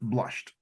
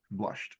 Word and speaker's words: blushed: reading uh Adriana um you can just lose one syllable with watched and blushed so uh for watched